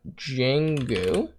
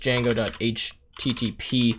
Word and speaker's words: Django: to say from uh jenggu dot dot http and then response we're going to import uh http response now i believe i probably butchered this yes sorry so it's actually just django.http um is that correct